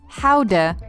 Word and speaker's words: Gouda: the world's most popular cheese by the way gouda is pronounced haude or how to cuss gout's cheese number two